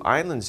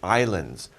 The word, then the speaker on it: island: these we have two islands here there's water all around these pieces of land right so we call these islands by the way we don't pronounce the s in island it's just island not